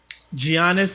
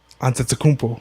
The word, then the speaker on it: Giannis: Giannis Antetokounmpo.